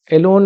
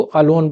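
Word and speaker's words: alone: इसको अलोन नहीं पढ़ते अलोन नहीं पढ़ते हैं ए ये गलत होता है इसको अलोन पढ़ते हैं ठीक है अलोन अलोन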